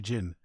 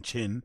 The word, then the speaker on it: Jin: Allegedly, he calls him Chin because he can't say his actual name, which is what? I forgot what. Is it Jin, right? It's actually Jin. So, but Brendan couldn't pronounce Jin, J-I-N, so then he started calling him Chin, and now Chin's got